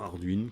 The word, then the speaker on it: Ardwen: On a préféré Arduenne, mais en disant Arduine, car on peut, les noms, c'est comme tout, hein.